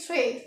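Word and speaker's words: très: ई एस ओ यू तो टी आर ई एस अगर हमने ई प लगाया तो इसको बोलेंगे थ्रे क्या बोलेंगे थ्रे थ्र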